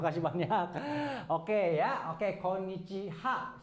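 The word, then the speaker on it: こんにちは: Sebenarnya ha bukan. Tapi yang benar adalah wa ya. Walaupun tulisannya tetap harus pakai ha gitu ya. Pakai ha, tetapi sekarang walaupun tulisannya ha tapi cara bacanya wa gitu. Kenapa?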